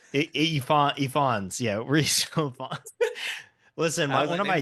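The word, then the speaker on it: Ifans: I It's a Welsh name, so it's Ivons. Is is illf face how that will be pronounced? Eon. Ephons.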